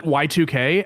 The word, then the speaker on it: YIIK: He would call it Y2K and then direct everyone to the Steam page.